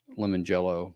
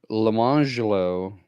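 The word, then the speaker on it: Lemonjello: jello and orange jello, but they were not pronounced lemon jello and orange jello. It was lemangelo and orangelo.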